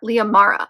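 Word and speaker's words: Lia Mara: forth between gray and this woman named Leah Leah Mara I always want to say her name is Maria Leah Mara who is the oldest daughter of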